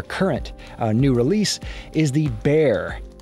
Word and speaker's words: Bexar: new release, is the Bexar. I believe that's how you pronounce it. It's based on a city in Texas. It's a confusing pronunciation.